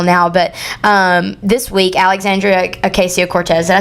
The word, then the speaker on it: Ocasio-Cortez: But this week, Alexandria Ocasio-Cortez, did I say her name right? No, Ocasio-Cortez.